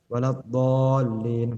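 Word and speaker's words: ولا الضالين: Waladhdallin, padahal kita harus memberi hak huruf dha di sini. Waladhdallin. Lamnya juga harus disenggol sedikit karena ada tasydid di situ.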